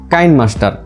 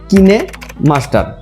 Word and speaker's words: KineMaster: না বেশিরভাগই উচ্চারণ করে কাইনমাস্টার। আবার অন্যদিকে এটি যেহেতু একটি কোরিয়ান ওয়ার্ড, তাই কোরিয়ানরা এটির উচ্চারণ করে থাকে KINE, কিনে মাস্টার।